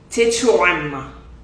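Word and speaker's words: tɛkrɛma: So the KYE, right, is it makes that sound. So Wait, don't tell me. okay. Tetrama.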